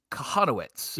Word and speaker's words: Kochanowicz: I'll just go ahead and text him it's pronounced kahanowitz for everybody cuz we didn't know it first